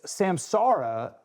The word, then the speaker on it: Samsara: I I've done the same thing, but it is Samsara.